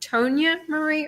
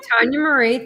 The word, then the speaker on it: Tanya Marie: Tanya Marie, do you pronounce it Tonya Marie or it's Tanya? Mm-hmm. Tanya Marie, thank you.